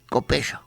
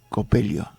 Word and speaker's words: Copello: 1933 se le designa a la República Argentina su primer cardenal el monseñor Luis Copello. Copelio. Es de Copello. Es lo mismo, che. Uno pronuncia así, bueno.